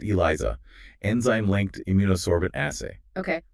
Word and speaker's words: ELISA: Using ELISA, pronounced Eliza, enzyme linked imunosbent assay.